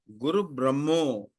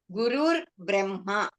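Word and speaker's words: गुरुर्ब्रह्मा: Can we pronounce Guru Brahma as Guru Brahmo? Actually, Guruhu Brahma, Guruhu, Gurur Brahma.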